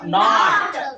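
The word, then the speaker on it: note: ಕೊನೆ ಅಕ್ಷರ ಈ ಬಂದ್ರ ಇದಕ್ಕೆ ಓ, ಇದು ಪ್ರೊನೌನ್ಸಿಯೇಷನ್ ಏನೈತಿಲ್ಲ ಓ ಅಂತ ಉಚ್ಚಾರ ಮಾಡ್ತಿದ್ದಿಲ್ಲ, ಓನ ಅನ್ಬೇಕಾಗತ್ತೆ. ಇಲ್ಲಿ ಇಲ್ಲಿ ಎ ಅಂತ ಉಚ್ಚಾರ ಮಾಡಿವಿ, ಹಂಗೆ ಇಲ್ಲಿ ಓ ಉಚ್ಚಾರ ಮಾಡ್ಬೇಕು.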